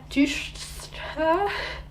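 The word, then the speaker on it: Deutscher: Isaac Dushta, it's spelled Dutschcher, by the way.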